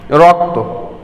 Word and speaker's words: রক্ত: আবার সেই 3 নম্বর নিয়মে বলছে শব্দের শেষে যুক্ত বর্ণের অধ্বনি সংবৃত উচ্চারিত হবে। যেমন রক্ত, আগের উদাহরণটাও কিন্তু আমরা এক্ষেত্রে ব্যবহার করতে পারি, রক্ত। গল্প, অত্যন্ত।